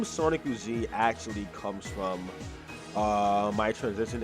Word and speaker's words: Sonikku: But yeah, so the Sonikku is because it's how you say Sonic in Japanese, and it's how it's spelled, of course.